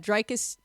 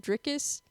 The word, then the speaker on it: Dricus: title fight we had draus uh or dricus how do you do you say his name dricus I say the draus like with the the the I as an a sound okay I feel like